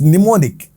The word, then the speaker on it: mnemonic: What is mnemonic? M is silent here.